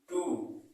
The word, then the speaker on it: two: जब आप इसे पढ़ते हैं तो इसमें भी W साइलेंट रहता है, इसको पढ़ते हैं हम TO, यानी टू। क्या पढ़ते हैं? टू।